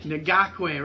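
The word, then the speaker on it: Ngakoue: i had it down before the podcast janik nagawee nagakway right yeah i'm sorry i'm terrible with those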